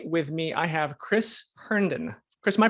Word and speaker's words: Herndon: and today with me i have chris herndon chris my pronouncing your last name right i forgot to